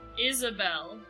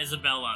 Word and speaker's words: Isabel: Isabel. Oh, Isabel, not Isabella. Sorry.